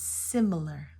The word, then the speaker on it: similar: of the S not similar but it's similar similar you get the short I I then you get the uh and then you get the r i i similar similar